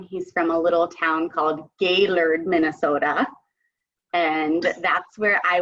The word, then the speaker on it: Gaylord: all of my vacation time day lured its G a Y L o Rd but pronounced Gaylord so I can feel you already